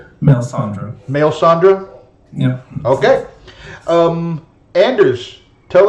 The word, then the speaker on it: Melisandre: So thank you, and tell me one more time how you want that name pronounced. Melisandre.